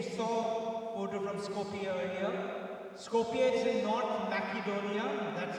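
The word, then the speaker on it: Skopje: Scopia is in North Macedonia. That's how it's pronounced.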